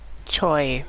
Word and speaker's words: Choi: Choi. There you go, Choi. Ninjas know your name. Begin. So I was pronouncing it wrong.